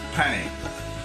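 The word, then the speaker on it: pané: flour egg and crumb in French it's known it's called um pany so p a n n e pany so that's the process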